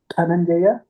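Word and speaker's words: धनञ्जय: Dhananjaya, again DH is Mahaprana.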